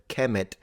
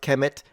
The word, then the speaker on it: Kemet: Was it pronounced Kemet? Maybe, maybe not. It's possible that it was pronounced Kumat.